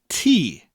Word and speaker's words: ti: in Welsh he and T TS / T I but sounds like the word for drinking a cup of tea T so the last sentence